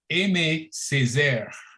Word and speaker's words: Aimé Césaire: but his name is Aimé Césaire. Did I pronounce that right, Deacon? It's Aimé Césaire.